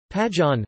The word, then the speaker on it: Pajeon: Pajeon, Pajeon Korean pronunciation, P-A-D-N, is a variety of jeon with scallion as its prominent ingredient, as pa means scallion.